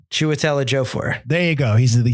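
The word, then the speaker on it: Chiwetel Ejiofor: mike how do you say this guy's name chuatela jofore there you go he's the he's he's the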